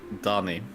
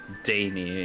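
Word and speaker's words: Dani: Donnie. Donnie. Oh, that's a cute name. Donnie or Danny if you're gonna go English.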